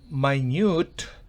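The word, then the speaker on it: minute: significa minuto pero la misma palabra si se pronuncia my newt significa diminuto medio minuto faymann & schuster stefford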